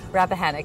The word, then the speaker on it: Rappahannock: Rappahannock. It's exactly the way it looks. It's spelled phonetically.